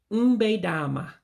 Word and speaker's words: mbe dama: So you drop that second E. So it would be mbe dama is a proper way of saying it.